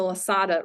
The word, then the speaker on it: Losada: and leaders, is to be mindful of the Losada ratio. And I may have mispronounced that.